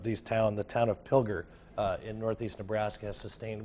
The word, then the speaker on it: Pilger: the damage Pilger until it not killed your Pilger so I just wanted to update that because